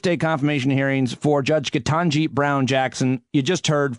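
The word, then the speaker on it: Ketanji: spelled her name wrong i continued to mispronounce her name but it's katanji brown jackson here's the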